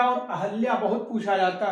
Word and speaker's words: अहल्या: इसी तरह से आगे आते हैं, यहाँ पर अहल्या, अहिल्या और अहल्या बहुत पूछा जाता है। अहिल्या जिसे अशुद्ध कहते हैं, अहल्या शुद्ध है, इसको बहुत पूछते हैं।